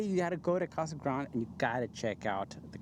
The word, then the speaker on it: Casa Grande: So, we were saying it Casagrande from when we first started. Yes. But, apparently it's not. It's Casagrant.